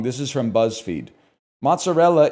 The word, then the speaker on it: mozzarella: Mozzarella is pronounced mozzarella, not mozzarella.